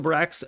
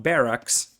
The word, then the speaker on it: barracks: better and cheaper scouts here's the brax coming in which is actually pronounced barracks as youtube comment section has pointed out to me so 20 pop versus